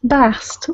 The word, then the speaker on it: Bast: Bast. That is the feminine pronunciation.